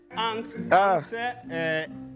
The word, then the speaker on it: ANCCI: ANCCI s'écrit ANCCI. ANSE-CI.